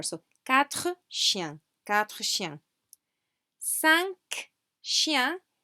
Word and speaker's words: cinq chiens: Cinq chiens, here we have the same. K, like in careful, we do pronounce this sound at the end of the word. Cinq chiens.